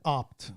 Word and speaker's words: Abt: His name is Christian Opt.